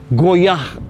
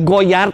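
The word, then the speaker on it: Goyard: ibu-ibu tas Prancis mereknya goyah Wah cara bacanya goyah tulisannya goyart goyart ya Tapi kan kedengarannya goyah seperti kata goyah Emang Terkadang ketika kita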